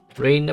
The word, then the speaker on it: Rena: Rena pala pronunciation nila.